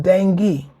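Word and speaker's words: dengue: from mosquito born illnesses like the D the dingu fever the dingu fever the dingo fever is there any information on the dingo fever let's see the Dingle fever it's pronounced dangi dangi d a n g e it's pronounced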